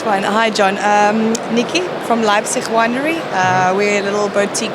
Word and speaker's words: Leipzig: So it's Leipzig, so with a P.